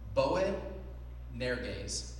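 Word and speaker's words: Boanerges: The sons of Bowen Neraz is how you say it in Greek.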